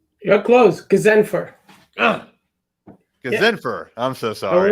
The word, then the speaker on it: Ghazenfer: Ghazenfer. You're close. Ghazenfer.